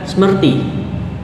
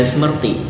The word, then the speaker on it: Smrti: Kemudian yang kedua, Weda Smrti. Ya, saya anggap bacanya Smrti saja karena tulisannya SMRTI. Kalau dilihat SMRTI atau Smrti itu memiliki arti ingatan.